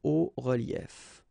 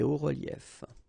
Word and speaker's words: hauts reliefs: it's quite simple because S and S, but then we don't pronounce them here. Des hauts reliefs. Okay? Un haut relief, des hauts reliefs.